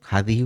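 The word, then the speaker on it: هذه: একটু টান দিয়ে উচ্চারণ করতে হবে, হাদিহি।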